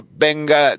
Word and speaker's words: Gbenga: Gbenga, the G is silent.